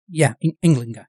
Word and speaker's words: Ynglinga: Is that how it's pronounced? Ynglinga, yeah.